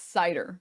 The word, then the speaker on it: Seiter: um and oh it's cider it's pronounced cider s chatting today now